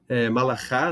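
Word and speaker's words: מלאך: Malchá, Malachá, ou Malach, depende, aqui é Malach. Malach, você tem o anjo, o mensageiro, né? Malach, essa é a pronúncia.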